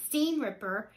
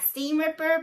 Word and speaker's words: seam ripper: eight words wrong um it's supposed to be big seam seam ripper not steam ripper but you know my